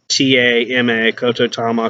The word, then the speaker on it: Kotodama: In Aikido martial arts, there is a philosophy to go by, Kotodama. Look it up, Kotodama, or Ko Kototama, Kotodama. Variations of how it's pronounced, spelled.